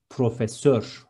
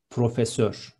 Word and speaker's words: profesör: Next one, professor is profesör with Ö in the end, be careful, profesör.